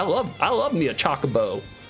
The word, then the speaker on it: Chocobo: Chocobo. Chocobo. Like nonstop made me laugh my ass off listening to Freddy try to pronounce chocoo in Final Fantasy 7.